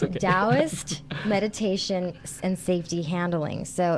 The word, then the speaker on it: Taoist: Taoist. Taoist.